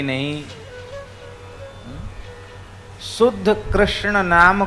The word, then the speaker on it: कृष्ण: उच्चारण पर मंत्र में आपका ऐसे नहीं चलेगा कि कृष्ण को कृष्णा कह दो यह मंत्र में नहीं चलेगा राम को राम रामो